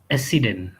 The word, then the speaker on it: accident: Now, look, there are two C. If they are sound same, then it should be accident. But when their sound is different, then we have to pronounce both of them.